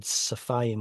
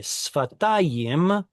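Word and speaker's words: שפתיים: Sorry, earlier I said safayim when shafayim. I'm thinking in myself, I know what the word probably is, so I'm pronouncing it as a sin instead of shin. Anyway, sfatayim, put upon your lips a lamentation.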